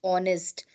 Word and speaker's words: honest: okay because it is H is silent honest University yeah then